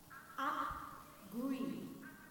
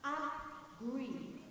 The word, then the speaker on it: Appgree: Appgree. Appgree. It's spelled A-P-P-G-R-E-E.